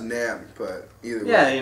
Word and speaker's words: NAMM: It's like, So it's pronounced Namm, but either way. Yeah, you know, they got... yeah, Namm, whatever. But, I'm probably pronouncing it right. It's fine. N-A-M-M.